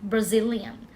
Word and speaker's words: Brazilian: brazilian wx นะ คะ brazilian brazilian เน้น ที่ Z นะ คะ เห็น ไมย